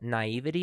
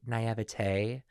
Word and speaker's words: naivety: Okay, first of all, naivety is really hard for me because some people say naivete.